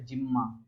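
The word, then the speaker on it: Gemma: और दूसरा bye formation of special structure जिम्मा। जिम्मा जिम्मा कप याद रख लेना कि जिम्मा कप जो होता है, या गिम्मा भी बोलते हैं, जिम्मा ही होता है इसका प्रोनाउंसिएशन।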